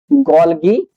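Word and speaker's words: Golgi: Ribosomes के बाद हम पढ़ेंगे गॉल्गी बॉडीज या गॉल्गी अपरेटस भी कहा जाता है। कुछ लोग गॉलजी पढ़ते हैं। व्हाटएवर यू प्रोनाउंस या आप तक है कोई टेंशन नहीं है।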